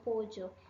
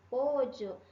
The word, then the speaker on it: pollo: variação, eu daria uma dica para você de você usar a variação que acontece no México, que é essa variação aqui do di, llave, calle, pollo. Eu falaria para você escolher essa porque a pronúncia dela é a mais clara, ok?